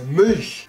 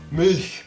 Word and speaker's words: Milch: Weil manche sagen Milch und sowas, bei uns ist es Milch. Als wäre das I nicht ausgesprochen, einfach M-L-C-H, Milch.